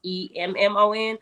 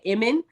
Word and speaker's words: Emmon: And I'm not sure how Iman came about, but it's not spelled like the typical Iman. It's just Emmon. So most people say Emmon, which is totally fine.